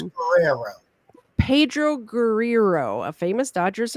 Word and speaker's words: Guerrero: I have trouble pronouncing things. It's Guerrero.